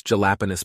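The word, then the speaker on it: jalapeño: A guy's ordering a sandwich and wants jalapenos peppers. You call it back pronounced correctly, jalapeno.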